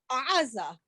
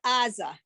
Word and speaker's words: Gaza: Okay, because I can't pronounce that ayin in the back of the throat, but he can pronounce it. It sounds more like Aza as opposed to Aza. And that's why it gets written as Gaza.